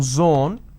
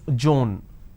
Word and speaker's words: zone: pronounce this as pays instead of pronouncing zone they pronounce this as Joan now zone is different Joan doesn't work there's no such word